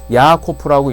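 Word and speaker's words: יעקב: 그 다음에 야곱은 야코프라고 읽습니다. 히브리어는 똑같고요.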